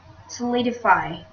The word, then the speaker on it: solidify: is the first word solidify solidify we notice that the stress forms in the second syllable solidify this is a verb